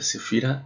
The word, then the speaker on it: Sefira: Se pronuncia Sefirot en plural, se pronuncia Sefira en singular.